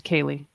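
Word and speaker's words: ceilidh: know ah the Killer I looked up how to say this and I forgot I think it's Kaylee the c-e-i-l-i-d-h yeah it's a it's a I think it's cable it is it is it's a Kaylee yeah uh the killer Kayla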